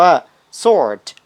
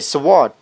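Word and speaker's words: sword: มัก ออก เสียง ผิด คำ นี้ อ่าน ว่า ซอส ไม่ ใช่ swot แปล ว่า ดาบ คำ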